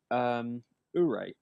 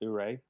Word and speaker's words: Oure: Okay, next game, Ure, spelled Oure, pronounced Ure.